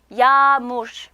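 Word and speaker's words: yağmur: 야무르. 그래서 자, 여기 요 유무샥게가 갖는 실질적인 음가 없죠? 대신 요 앞에 위치한 모음, 즉 R을 조금 길게 발음해라 라는 뜻이에요.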